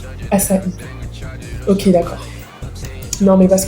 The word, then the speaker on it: ACAI: Du coup, bon moi j'avais vu de la musique, j'habite et du coup, ça se dit assai assai.